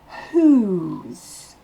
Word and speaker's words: who's: Le W ne se prononce pas. Le H est soufflé. Et ensuite, le O se prononce OU. Un OU long. Whose.